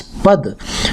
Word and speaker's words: pada: divisions, which is called, in Sanskrit the right pronunciation is pad, but for the Western world it's easier to say pada.